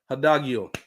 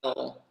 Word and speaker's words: Hidalgo: Let's talk about your girl Hannah Hadagio. Did I say her name right? Hannah Montana. I think Hannah it's Montana. Hidalgo.